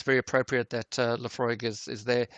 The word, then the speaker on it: Laphroaig: if I don't so I'm gonna call it Laphroaig fresh Aussie Laphroaig Laphroaig congratulations Laphroaig is correct